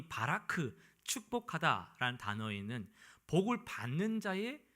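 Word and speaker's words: ברך: 여기서 축복하다라는 번역된 이 히브리어는 히브리어로 발음을 해보면 바라크라고 할 수 있어요. 바라크.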